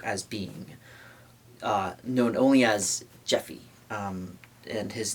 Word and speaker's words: Japhy: being known only as Jeffy. And his name, yeah, it's I think it's so it's spelled Jaffe, like it's like it would be phonetically Jaffe, Japhy, but his I believe I've